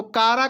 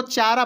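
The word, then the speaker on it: Chara: जब हम लोग भाई बीएससी में थे तो कारा को जब उच्चारण नहीं जानते थे तो इसको चारा पढ़ देते थे। है ना? आपने भी पढ़ा होगा चारा।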